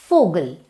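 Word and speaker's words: Vogel: Foul, German language में वी को exactly F की तरह प्रोनाउंस किया जाता है, जैसे कि फोगल, फोगल मीन्स बर्ड.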